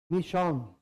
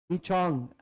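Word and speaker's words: Michaung: ये नाम दिया मतलब कि जो तमिलनाडु के तट पर चक्रवाती तूफान आया, मिशोंग, मिचोंग, तो मिशोंग भी कहते हैं, मिचोंग भी कहते हैं, तो प्रोनाउंसिएशन डिपेंड करता है कंट्री वाइज।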